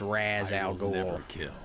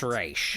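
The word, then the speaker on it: Ra's al Ghul: team I guess sometimes they people will also pronounce it as Razz Al Gore not even you nope it's race you lied to me I needed a sample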